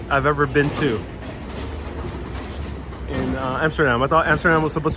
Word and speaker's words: Amsterdam: So for anyone who wants to get more of a perspective of Amsterdam, I'm going to try to pronounce it the Dutch way. Amsterdam. Amsterdam.